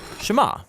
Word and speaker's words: Shema: is hear or listen which in hebrew is pronounced Shema that's where the prayer